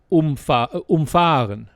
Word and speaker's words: umfahren: But if you pronounce it differently, spelled the same, if you say umfahren. See, which is what I was saying. So you're saying umfahren, but if I say umfahren. Yeah, emphasis on the first syllable.